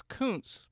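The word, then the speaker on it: Kunc: It's It's Coun, but it's spelled K U N C, which can often be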